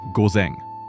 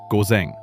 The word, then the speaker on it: ごぜん: The word for AM is gozen. Listen first. Gozen. Now you say it. Gozen.